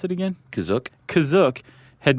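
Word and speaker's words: Kashyyyk: Is that how you say it, Kizuk? That's how it's pronounced in the episode, the holiday special, but it's also pronounced different ways other times. I would have pronounced it Kashi.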